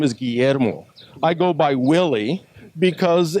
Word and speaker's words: Guillermo: so fed up that they were saying things like oh cool ii-era mo and the cool air mo I thought that's ridiculous